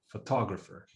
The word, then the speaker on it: photographer: So photographer has 4 syllables. So photo. So the stress is here. Photographer.